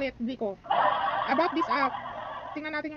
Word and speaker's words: Kviku: Kic ba basa dito o Vico? Silent K Vico online loans.